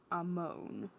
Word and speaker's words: Amon: "Right, Amon." He didn't pronounce it like Ammon. His version was a more swoon-inducing Amon, providing, of course, that one would swoon over a guy who was obviously not all there.